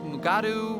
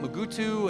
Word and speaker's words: Mugato: poisonous and venomous and the way you pronounce megato is very varied so i was reading up on the mugados did you know they have alternative pronunciations mugaru mugutu and gumato isn't that neat and